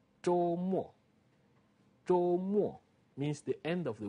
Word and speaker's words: 周: You read it, 周. First tone, 周. And remember, we said this. You pronounce this almost like when you say job in English. The J here, almost, not exactly, but it's closer to this.